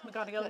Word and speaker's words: McGonigal: Cullen, Emma McCarthy, Cueva McGonigal. Am I pronouncing that right? Yes, McGonigal.